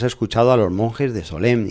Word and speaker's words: Solesmes: España de la congregación de Solem, pronunciado a la española Solesmes.